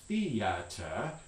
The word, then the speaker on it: theater: the english word feeder most americans are going to say this has two syllables theater is going to be pronounced something like this um if you're british or if you're speaking extremely formally you might have three syllables in here the theater fiata or something like that but for most